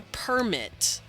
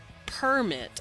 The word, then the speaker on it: permit: for English is to say something like I got a permit permit I put stress on the first syllable versus I didn't permit that you put stress on the second syllable to denote whether the permit is a piece of paper or permit I allowed you to do that it's a verb informal Japanese also doesn't